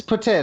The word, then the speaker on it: poutine: Yes, it's pronounced poutine. No, they're lying. It's poutine.